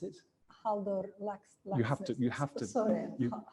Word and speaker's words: Halldór Laxness: How do you pronounce it? Halldór Laxness. You have to. Sorry, Halldór Laxness, the International Literature Prize.